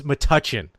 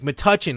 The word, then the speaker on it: Metuchen: I'm like, "Raven, it's Metuchen." He's like, "What?" I'm like, Metuchen, like if you touch something, Metuchen.